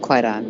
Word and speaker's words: Kwaidan: Kaidon or Quaidon. That's Yeah, the movie is called Quaidon, but it's Yeah, I'll go.